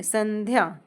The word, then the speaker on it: संध्या: स अनुस्वर आधा ध य संध्या अब इस न अनुस्वर को हम न प्रोनाउंस कर रहे हैं। क्यों कर रहे हैं? क्योंकि ये त वर्ग के अंतर्गत है। और इसमें पांचवा पांचवा जो वर्ण है पंचम वर्ण वो है न। जैसे कि त थ, द, ध, न। तो फिफ्थ लेटर आया हमारा न। इस न को हम प्रोनाउंस करेंगे। यहां अनुस्वर को न के रूप में संध्या।